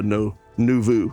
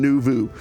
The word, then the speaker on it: Noovo: the uniqueness of a no nuu see I say it wrong Nu Vu um so let's jump